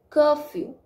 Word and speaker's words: curfew: The first part of this word is stressed and second part is unstressed, curfew.